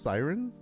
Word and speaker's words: Syren: I think it's called I think it's pronounced Siren, but it's SYREN. N, I'm pretty sure.